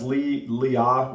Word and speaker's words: Leah: All right, and it's pronounced Leah. There's basically it's the same.